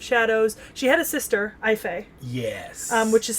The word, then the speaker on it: Aoife: she had a sister i fee yes which is spelled aoife but i believe the proper gaelic pronunciation for that is ife um like a-y-f-y or a-y-f-i or something like that um which i really